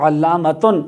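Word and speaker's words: علامة: اسی طرح ہی ہے، اصل میں آخر میں گول والی تا ہے، تو علامتن اصل تلفظ اس کا یہ ہے وصل کی صورت میں، ملا کر پڑھنے کی صورت میں اگر آئے گا تو تن کر کے پڑھیں گے، اور اگر وقف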